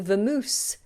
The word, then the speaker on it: vamoose: this word come from the Spanish word vamos which means to go let's go vamos but we've adopted it and slightly change the pronunciation and the spelling to vamoose so if I say